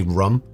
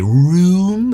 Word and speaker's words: rum: No one should ever go like when they're trying to say rum. They shouldn't say room. That's just way too that's annoying and stupid. Rum and rum. That's all. End of discussion. That's how it's said.